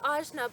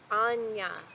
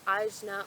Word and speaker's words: Ajna: rajma I called it Ozma but I must ask for your forgiveness I have recently learned that the proper way to pronounce the Sanskrit word for the sixth chakra is actually more like Anja you know that Enya